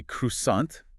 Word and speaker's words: croissant: The R sound is almost invisible, and the T at the end makes no sound at all. Croissant.